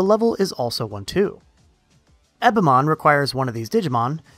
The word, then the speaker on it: Ebemon: And now that I think about it, is it pronounced Ebemon, like E.T., or is it Ebemon? Eb makes sense, but I'm gonna rock Ebemon.